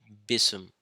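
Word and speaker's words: بسم: the chapter one is BISM now here's the pronunciation for that BISM and here are the letters which make up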